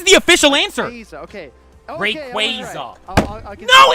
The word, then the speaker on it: Rayquaza: it's reuse Rayquaza okay I'm going to go with with the hard A's here Rayquaza like laser wait they're giving the answer right now this is the official answer laser okay Rayquaza no it's not or